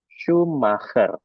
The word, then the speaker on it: Schumacher: Nah, huruf CH ini jangan dibaca C ya, tapi dibacanya ke ya. Ke. Nah, sedangkan SCH dibacanya sh ya. Ingat ya. Jadi CH itu ke, SCH itu sh. Maka nama orang tersebut, nah ini seorang pembalap ya, namanya Michael. Jangan menjadi Michael ya. Jadi dibacanya Michael Schumacher ya.